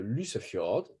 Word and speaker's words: Lysefjord: C'est le fjord qui s'appelle le Lysefjord. Lysefjord Y, en général, ça prononce plutôt U en norvégien.